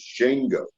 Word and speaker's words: Shango: I like this, and the correct pronunciation of it is Shango. But I thought Shango sounded country, and I didn't want to say Shango. It sounded too country to me. So I pronounced it Shango because I made it a little deeper.